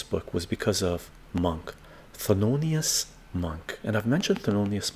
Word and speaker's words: Thelonious: This is the way you pronounce his name or spell his name. Thelonious.